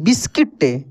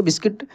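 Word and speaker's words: biscuit: बचपन में खाए होंगे बिस्किट उसका एक्चुअल ये उच्चारण होता है हमलोग बिस्कुट बिस्कुट ऐसे करके कुछ बोलते हैं लेकिन बिस्किट उसको इंग्लिश में जाता है तो दोस्तों इस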